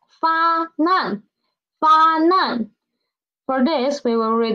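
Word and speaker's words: 发难: Not fa nan, it is not fan an, it is fa nan, okay?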